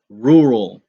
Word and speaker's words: rural: moving on to the next word which is rural rural and this is actually one of the